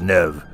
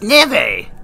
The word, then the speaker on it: Neve: I think it's pronounced Nev. No, it's Neve! Like Nivea, you twit!